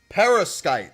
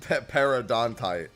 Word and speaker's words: perovskite: Perovskite. That's what it's called. Yeah, Perovskite. Yeah. Okay. It's definitely not Paradontite. Paradontite. I knew it wasn't that. I knew it was less syllables than that.